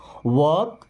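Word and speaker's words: walk: ईट इट इसे खाओ वक स्लो देखिए यहां पे एल लगा है ना लेकिन हमने इसको वाल्क नहीं पढ़ा क्यों क्योंकि एल यहां पे साइलेंट होता है और इसे पढ़ते हैं वॉक क्या पढ़ेंगे वॉक वक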